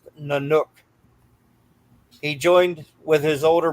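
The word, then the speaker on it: Nynuk: When Mark Wahlberg was included in the lineup, the band went by Nanook, pronounced Nanook.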